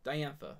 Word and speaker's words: Diantha: boo-boos but we did good we did good diantha diantha right diantha that's how it's pronounced fire crystal fire crystals I do need